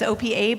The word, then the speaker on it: OPEA: internal to the group the official pronunciation is opa but say what is ever comfortable for you open platform for enterprise